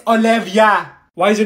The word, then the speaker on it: Olivia: here it's Ava it's three letters Ava sorry Oliva what did she say Oliva it's Olivia why is your name Olivia here if your